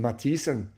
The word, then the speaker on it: Mathisen: It's the th letter, but actually in Norwegian or Scandinavian, they typically pronounce the th not like th as much as like t. Like my name Mathisen, which is Norwegian.